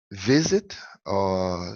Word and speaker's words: visit: Então, visit, sílaba tônica, é no primeiro, é o penúltima sílaba, é visit, visit, alright?